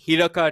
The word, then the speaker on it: Hiraka: he's at the rate Hiraka T. Fun fact, there is a A at the end of Hiraka, but it's pronounced Hirak.